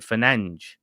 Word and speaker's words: Fernandes: So with Fernandes, or Fernandes in Portuguese, they pronounce it Fernandes.